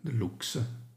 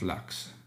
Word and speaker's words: lux: and to handle the looks looks not Lux Lux is English but looks is Latin and we must pronounce as looks in Latin older than English move on to temperature